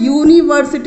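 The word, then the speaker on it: university: तो यहाँ पे ये जो आपका वोवल लेटर यू है ये साउंड दे रहा है यूनिवर्सिटी, इस तरह कुछ लिखा जाएगा इसकी।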